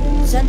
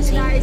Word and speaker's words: Zayn: At ay specific mo ako kasi mali pronounce niya. Zayn. Oh, Zayn. Zan ba? Zayn.